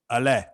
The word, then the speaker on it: Alain: that I'm going to really try hard to pronounce. Alain.